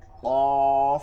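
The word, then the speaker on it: قاف: হা হা আচ্ছা কাফ কফ কাফ কফ কফ ভারি আওয়াজে কফ কফ কাফ কফ কফ কফ কাফ কফ কফ কাফ কাফ কফ কাফ কফ কাফ সিন আর সদ চিকন এবং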